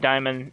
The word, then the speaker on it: daemon: The pawns pronounce it diamond, I'm pronouncing it diamond.